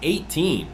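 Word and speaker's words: A'TIN: Okayallyandom andan pronounced 18 because the number 18 comes before 19 that's right 19 is saying their fans come first it's not just a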